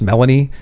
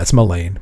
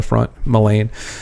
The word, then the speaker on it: Melaine: Which you'll hear in the in the books pronounced Melanie. Um it's not it's Melaine. I mean, if people have their It's like Elaine, but with an M on the front, Melaine.